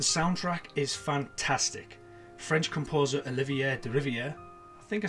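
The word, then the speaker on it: Olivier Deriviere: mostly consistent the soundtrack is fantastic french composer olivier de riviere i think i said it right amazing name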